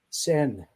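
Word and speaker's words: Seine: of the goddess of the SE is it sing River sen sen River okay the sen River see that's why I have you for pronunciations for the sen River he says the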